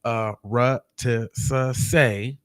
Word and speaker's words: Arutisuse: It says a Arutisase, pronounced Arutisase, is a holiday that celebrates foundational Black American culture of freedom, fighting, and resistance.